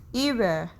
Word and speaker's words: hiver: Number four, hiver, H is silent here, that is winter.